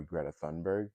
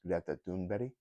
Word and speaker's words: Greta Thunberg: A lot of Americans mispronounce her name and call her Greta Thunberg, but really her name is pronounced Greta Thunberg.